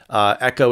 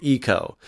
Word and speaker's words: eco: of being eco-friendly so many koreans pronounce eco-friendly they say eco-friendly echo is not the correct pronunciation we say eco so eco-friendly means that